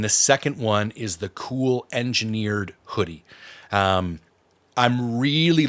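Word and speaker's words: Kühl: seen that brand before it's spelled k-u-h-l cool engineered um I I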